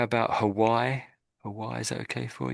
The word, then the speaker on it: Hawaii: Hawaii. Yeah, you've got it, I think, pretty much. Yeah, that's it. Yeah. It's a definite H sound there.